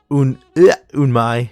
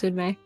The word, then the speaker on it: Unmei: Thank you, Darth Unmai, for the follow. Unmei. Unmei. It's Unmei. Unmei. Okay, I was like Unmai or Unmei. I don't want to say it wrong.